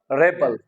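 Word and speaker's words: rebel: record is a noun like wise we have an other word जो कि अगर noun है तो फर्स्ट सिलेबल पे और ये क्या होगा रेबल रेबल okay and इफ इट इट इज a work तो जो है सेकंड सिलेबल पे इसकी क्या जाएगा stress रिबेल रिबेल the word is same spelling same letter same use हुए हैं आर ई बी ई L when it's a noun it's pronunciation is रेबल when it's a verb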